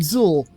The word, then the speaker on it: Xul: was like all right with a name like zool Drew's gotta be right there has to be